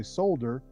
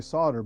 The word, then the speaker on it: solder: why Americans say solder because the L is a silent L they're like a lot of other words but you guys say solder we say solder but there are other